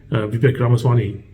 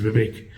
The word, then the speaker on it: Vivek Ramaswamy: There's so many people out there, Mike Pence, Nikki Haley, Vivek Ramaswamy, I think that's how it's pronounced, Vivek, Ron DeSantis, Chris Christie.